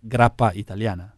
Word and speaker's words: Gra'it: yeah I mean you we pronounce it as in great as in the word great but originally it was meant to be like graa Itali ah okay that the